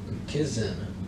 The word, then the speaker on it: mkizin: The word we use is mkizin for one of them. Now, that word moccasin is a mispronunciation of mkizin.